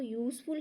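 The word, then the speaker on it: useful: example की थी की यूजफुल में यू है बोल है लेकिन ये साउंड जो है बोल की नहीं दे रहा है तो यूजफुल है युकी सॉन्ग दे रहा है तो इसलिए हम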